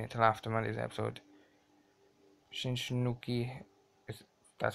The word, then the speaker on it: Shinsuke: Shinsuke, that's how you say it, Nakamura, the big